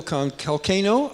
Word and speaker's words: Calcagno: Kalcano, I think I'm saying it right, rhymes with volcano.